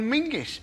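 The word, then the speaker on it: Menzies: should pronounce it John mingis apparently it's to do with a defunct Scottish letter Zog you couldn't make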